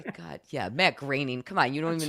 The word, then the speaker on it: Groening: Yeah, Matt Groening. Come on, you don't even know that? Jeez. Rhymes with complaining.